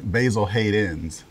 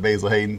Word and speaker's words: Basil Hayden's: said it wrong but say it again basil hate ends plural a lot of people just call it basil hayden so you see the